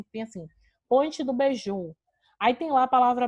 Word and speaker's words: beiju: Mas não, porque beiju é uma palavra oxítona, próprio, porque a última sílaba é a sílaba mais forte.